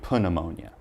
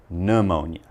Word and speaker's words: pneumonia: can give you is don't say put ammonia just say pneumonia and remember it's a